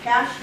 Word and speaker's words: cache: time you want to clear your internet browsing cash the funny little word it's pronounced like money cash money but it's spelled see a CAG if